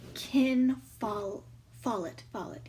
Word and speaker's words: Ken Follett: As the live stream title says, I will be reviewing Fall of Giants by Ken Follett. Yeah, that's how you pronounce his name.